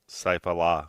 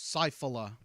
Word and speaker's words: Saifullah: pronounce it Allah, but it's Saifullah.